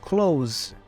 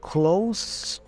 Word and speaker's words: close: we say s case close or closer but for verbs with the letter s we pronounce the S as a z so we say close okay so there's a